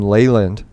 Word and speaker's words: Leland: now i'm going to start pronouncing my name leyland i don't know that's the way my late grandma used to say it all the time i really miss her